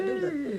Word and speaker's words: doula: She's a doula.